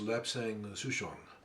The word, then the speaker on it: Lapsang Souchong: It's, I believe it's pronounced Lapsang Souchong.